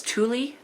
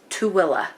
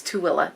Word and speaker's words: Tooele: may have seen it a lot of people mispronounce it as Tule it's t-o-o-e-l-e it's too Willa so not Tuli it's too Willa just letting you know